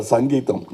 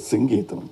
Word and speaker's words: Singeetam: once and all in there was always a confusion how to pronounce his name he used to get very upset because Mr. Sangeam. No, it is singam please.